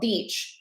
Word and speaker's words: beach: Beach. Have a video on this. Long E, smile, beach, and then relax your cheeks and your mouth for bitch.